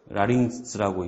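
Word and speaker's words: λάρυγξ: 그러니까 감마가 있고 크시가 있어서 라링스라고 있습니다.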